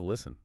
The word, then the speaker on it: listen: Wait, why did the T drop out of listen? Well, listen comes from the Middle English word listen. Middle English speakers naturally dropped the T because it was physically difficult to pronounce when stuck directly between an S and an N.